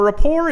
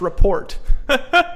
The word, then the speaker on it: rapport: Well, rapport is not, I used to actually call this report. What, anybody ever pronounce it like that? Report? You know, you're a little dyslexic or ADHD too, and you look at that and you're saying it's a report, like a school report.